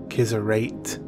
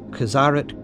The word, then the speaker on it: Qizarate: religious body there are many ways people may pronounce it kids are at Kizza rate but it is userid his aren't a Korean big scene is